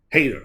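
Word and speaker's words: Hayter: Hater. I was right. JB Hater. I almost said Hager. I'm thinking about Jake Hager, but I was close.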